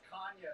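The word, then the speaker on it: Canha: into politics all right pronunciation of your last name oh it's kanye technically portuguese okay interesting we learned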